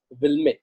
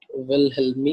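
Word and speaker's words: Wilhelmy: रखा गया है, उसको हम लोग बोलते हैं विल्मे। अच्छा सॉरी, स्पेलिंग रॉन्ग हो गया। विलहेल्मी इक्वेशन, ठीक है।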